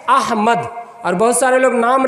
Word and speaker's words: अहमद: अहमद। इस नाम में भी बहुत सारे लोग गड़बड़ करते हैं, अहमद नहीं अहमद, असल उच्चारण क्या है, अहमद।